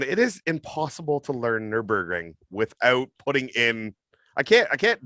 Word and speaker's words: Nürburgring: I think it's Nürburgring, but I call it the Nürburgring.